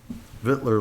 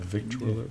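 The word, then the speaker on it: victualler: non-renewal of common uh vittler license by the way i found out that that's how you say that you know what i did not know that hitler license hitler yeah that's actually how you say it yeah i saw that recently somewhere like because i always try to say the whole thing yeah victoria but it's just fiddler anyway for conrad's driving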